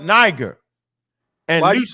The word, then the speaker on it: Niger: Simeon, that was called Niger. And why Lucius, you pronounce that like that? Because that's what it is. Niger.